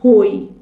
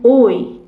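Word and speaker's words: hoy: نکته تلفظی باید بنویسیم اگر ما این حرفو داشته باشیم بعدش حرف صداداری بیادش این هم تلفظ نمیشه مثلاً نگاه کنید من اینجا نمیگم هوندورس میگم اوندورس این از چه اینجا تلفظ نمیشه اینجا نمیگم هوی میگم اوی اونطور است نام یک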